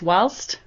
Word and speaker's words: whilst: did just check and the first word she pronounced I was incorrect it's not wilst it's whilst um it is used in America it is